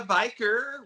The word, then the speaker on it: Viker: Viker, it's like Yeah. Beaker, rhymes with beaker.